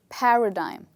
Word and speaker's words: paradigm: does this look like is it digim dim or dime well this part is dime and this word is actually pronounced as paradigm okay now what does